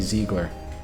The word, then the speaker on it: Ziegler: how you say it the z-i-e Ziegler I keep saying Zeigler it's IE so it'd be Ziegler if it's German which is a very